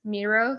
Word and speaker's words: Miro: it's murals sometimes it's Miro so the first one was mu air mu R al and the second one was Mir o - competitors that have completely similarly pronounced name I know sometimes I